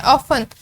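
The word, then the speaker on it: often: ऑफन, ऑफन में टी पढ़ने में नहीं आता, हमसे पढ़ते हैं ऑफन ओ एफ ई एन।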